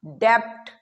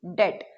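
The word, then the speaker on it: debt: Spelling लिखी जाती है डी ई बी टी और इसे हम बोलते हैं डेप्ट। लेकिन ये गलत है। जो बी है वो इसमें बिल्कुल साइलेंट होता है अकॉर्डिंग टू लैटिन ओरिजिन। ठीक है? तो इट्स नॉट डेप्ट। इट्स डी ई T sound आता है। डी ई टी डेट। तो डी ई बी टी लिखा जाता है लेकिन डी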